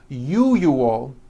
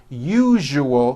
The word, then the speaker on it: usual: are very very common if you are someone that pronounces the word usual as ual I'm telling you you are not being understood let me show you how to pronounce the word usual correctly break it up into three syllables u o that second syllable the one with the underline needs to be voiced put your hand on